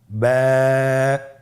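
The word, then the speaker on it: ب: টান আপনারা আমার সাথে বলুন বা আবার বলুন বা এর মাখরাজ হলো আপনের দুই ঠোটের ভিজা অংশ থেকে আপনি উচ্চারণ করবেন দেখুন স্ক্রিনে স্ক্রিনে কিন্তু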